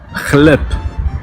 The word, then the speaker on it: хлеб: Pour finir les consonnes, nous avons le Х, Х. comme dans le mot хлеб, Хлеб. qui signifie le pain. Il faut penser à la jota espagnole si vous avez déjà fait de l'espagnol.